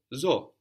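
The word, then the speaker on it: ζω: accent on the end zo I live like in zoo like in the name in English Zoe and zo also counts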